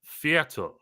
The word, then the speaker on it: Viertel: Viertel with an R, right? Yeah, Viertel. Like four. Like Viertel. Yeah, like a quarter.